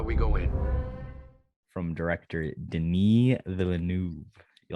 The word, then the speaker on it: Denis Villeneuve: From director Denis Villeneuve. You like that, Kody? Good pronunciation.